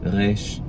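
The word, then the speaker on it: ריש: And reysh is, we call it a uvular fricative or a uvular trill. So that's that little dangly thing in the back of your throat, right there. It drags across the tongue. Reysh.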